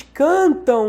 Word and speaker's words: cantam: Só que esse ão aqui equivale a ão. Cantam. Eles cantam muito bem.